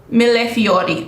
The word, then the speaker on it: millefiori: beautiful blush millefiori okay i have to pronounce it the italian way because it's written like an italian word i took italian in college funnel effect uh milefiori okay uh 361.